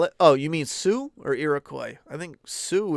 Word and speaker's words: Sioux: You don't know how to spell it? Oh, you mean Sioux or Iroquois?